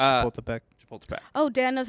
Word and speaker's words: Chapultepec: It's Chapultepec. Chapultepec. Oh, Dan knows how to pronounce something.